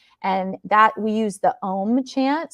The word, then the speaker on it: Om: And then there's chanting, and that we use the Om chant. So it's 3 syllables, ah, oo, and it's really about relaxing, moving energy, triggering, again, a parasympathetic response, and as another form to move energy.